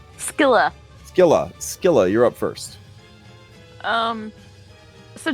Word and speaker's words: Scylla: Scylla? Am I pronouncing that right? Skilla.